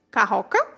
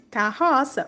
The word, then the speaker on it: carroça: Sem o C cedilha, como ficaria a pronúncia das palavras? Leia. Acougue, carroca, fumaca, pacoca. Agora leia corretamente. Açougue, carroça, fumaça, paçoca.